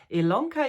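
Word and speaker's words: Ilona: lka my name is Elona yes it's spelled with an i but pronounced with an e and you meet me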